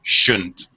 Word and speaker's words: shouldn't: Again, should didn't sounds like two syllables. When I reduce it a little more, shouldn't.